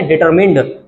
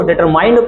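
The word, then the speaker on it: determined: इसको क्या बोलेंगे, डिटरमिन्ड। कुछ लोग इसको डिटरमाइंड पढ़ते हैं, वो गलत होता है प्रोनाउंसिएशन इसका, तो इसको बोलेंगे डिटरमिन्ड।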